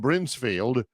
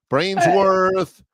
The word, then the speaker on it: Brinsfield: coach Dye was coaching named Brian Brinsfield. And coach die for the life of him. Could not pronounce his name. Brainssworth Brins, you know that.